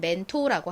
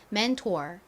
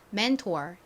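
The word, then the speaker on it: mentor: 멘토라는 단어로 다시 돌아가서 한국식 발음으로는 멘토라고 하지만 미국식 발음에는 끝에 아리 들어 있어서 맨투어 멘토월 이렇게 발음한다라는 점 기억해 주세요 자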